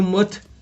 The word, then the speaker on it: mirth: सो मर्थ, MIRTH, आर इसमें silent है again, मर्थ।